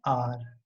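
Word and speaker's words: hour: आर की starting H से हो रही है बट हम इसको प्रोनाउंस कैसे करते हैं, आर, आ।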